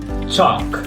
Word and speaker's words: chalk: at all and the word salmon we don't pronounce salmon folk and it means people chalk not Charlie chalk and the last one Connell